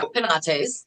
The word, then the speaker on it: Penates: So you know the organization is called Panates. Am I pronouncing it the right way? Yes, that's that's close enough. It's Yeah. Penatees.